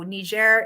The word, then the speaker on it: Niger: you know um well the french pronunciation seems to be the main one that um that we can find so niger is is what seems to be the most common even in even for english speakers yeah that's what i